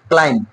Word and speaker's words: climb: Beta silent থাকবে। Next CLIMB, ক্লাইম্ব, নট ক্লাইম্ব, ক্লাইম্ব, okay?